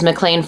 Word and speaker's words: McLean: the mean of mlan see if you pronounced it McLean it would make so much more sense the mean of McLean